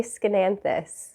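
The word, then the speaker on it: Aeschynanthus: it made me happy variegated lipstick plant a scananthus i learned how to say it recently and now i like to say it all the time a schenanthus okay i think this one is from i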